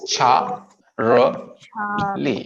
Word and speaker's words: Charlie: C as in Charlie, C as in Charlie, it's not Charlie, it's cha Lee. There are three syllables. Char, no, there are two syllables. Char Lee, two syllables हैं, एक चार ली।